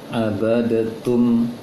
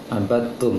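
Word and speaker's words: عَبَدتُّمْ: Abadatum, habis. Abadatum, abadtum, afwan. Abadtum bacanya.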